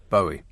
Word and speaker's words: Bowie: only once you'll only get the chance okay bowie so that was david bowie saying bowie but